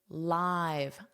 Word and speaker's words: live: It's not the same pronunciation. It's live, I've. So think of I've.